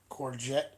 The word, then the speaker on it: courgette: Courgette is the pronunciation.